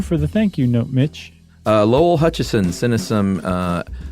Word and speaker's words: Mich: And then we got a thank you note from Mitch, M-I-C-H, but it rhymes with rich. So thank you for the thank you note, Mitch.